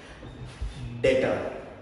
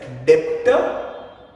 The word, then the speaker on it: debtor: Be something called as डेटर। I repeat the term, it's डेटर, जिसमें B silent रहता है। तो please don't read it एज डेप्टर, read it एज डेटर।